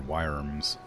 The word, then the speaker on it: wyrm: Or wyrms, you pronounce it. Or do worms not have wings? I thought drakes didn't have wings. I thought drakes were like dragons on all fours with no wings. Most worms do not have wings? Not worms, like wyrm. Like W-Y-R-M. Like worm, however you pronounce it.